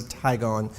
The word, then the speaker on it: Tygon: it's a brand name DuPont owns the word tigon but it's the clear tubing that we use when we're using our gas detection to drop into a confined space and so that's exactly the right way to say it the clear tubing is